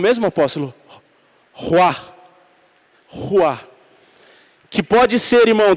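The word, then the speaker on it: רוּחַ: E eu fui ver a tradução da palavra Espírito nessa criação, que se pronuncia como o mesmo apóstolo, Ruá.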